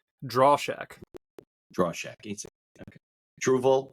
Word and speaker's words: Drauschak: having me okay good how do you pronounce your last name draw Shack draw Shack EAS okay trille and draw Shack